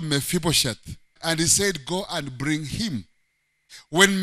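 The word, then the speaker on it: hesed: a hebrew word in the old testament called he said h-e-w-s-e-d now in a hebrew you pronounce it like a a man from kamehameha you call it he said and even if it's like that so loving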